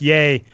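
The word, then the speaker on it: Yeh: That's spelled Ye, Y-E-H, Chris, just like it sounds.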